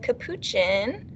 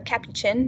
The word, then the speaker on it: capuchin: howler monkey and the capuchin or cappy chin depending on how you like to pronounce it uh squirrel cuckoo is